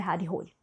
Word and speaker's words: Harry Hole: Eu fui investigar como é que se pronunciava esse nome, porque eu li tanto o primeiro livro, que é Morcegos, como esse segundo livro pensando em Harry Hole o tempo todo. Mas aí eu pensei, calma, gente, isso aqui é muito inglês e o cara é norueguês. Então eu investiguei, descobri que a pronúncia é Harry Rolly.